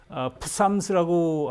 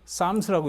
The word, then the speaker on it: Psalms: 지금 어디서 나왔는지 모르게 좀 이상한 말이, 그래서 이거를 푸삼스라고 하지 않고 그냥 이제 P가 묵음이 돼가지고 쌈스라고 이렇게 표현을 합니다.